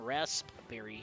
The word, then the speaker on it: raspberry: Yes, we pronounce the P in raspberry here.